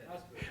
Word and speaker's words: Asprey: Um, did I pronounce his name right this time? Where's Dave? Aspir. Yeah, Aspir, right? Aspir. Last time I said it wrong.